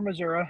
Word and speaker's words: Missouri: We pronounce it Missouri or Missouri. It kind of just depends which part of the state you're from. So.